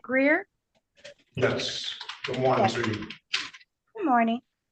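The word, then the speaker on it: Greear: are you there m did I get the pronunciation last name right yes she said Evette Greer yes good morning good morning that g r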